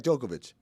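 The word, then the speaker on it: Djokovic: two is Novak jokovic even though it ends with the sea we'd say Novak jokovic number three sugat is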